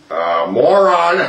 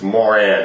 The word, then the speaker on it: Moran: Moron. I know I'm pronouncing the name wrong. Of Kansas, it's Moran actually, but I know I'll say moron instead.